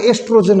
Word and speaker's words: oestrogen: Ovary, और उसका नाम है एस्ट्रोजन हार्मोन। कौन सा हार्मोन है? एस्ट्रोजन hormone. ओ से स्पेलिंग शुरू है, OESTROGEN, एस्ट्रोजन हार्मोन।